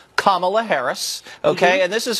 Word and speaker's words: Kamala: Kamala Harris so now we know how to pronounce her name Kamala Harris okay and this is her talking to